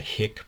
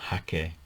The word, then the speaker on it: hake: to call this a hick brush but actually it should be pronounced as a hakee brush it's actually the name hakee isn't an english name it's a japanese name now it's a long